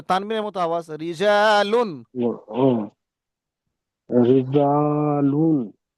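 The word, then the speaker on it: رجالٌ: জা, লাম দুপেশ লুন, রি, জা, লুন, লু টান হবে না, লুন। রিজালুন। রিজালুন। জি। তারপর? হুম, হুজুর, দুপেশ থাকলে টান হবে না এটা। না, দু পেশ থাকলে গুণ না, তানবিনের মতো আওয়াজ। রিজালুন।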